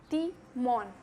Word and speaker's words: Timón: Então, a pronúncia do T é ti, timón.